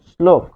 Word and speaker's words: শ্লোক: আবার তালব্য বর্ষ এর সাথে ল যদি যুক্ত হয় তাহলে আমরা দেখি যে শ্লোক, শ্লোক, এটির উচ্চারণ হবে শ্লোক, শ্লোক, হসন্ত হবে, হসন্ত না দিলে কিন্তু ভুল।